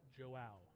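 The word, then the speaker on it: João: had a friend of this gentleman come and correct us, so we will pronounce his name correctly now. It is Joao.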